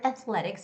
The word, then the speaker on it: athletics: Now, the word athletics has the second syllable stress, so it's going to be athletics.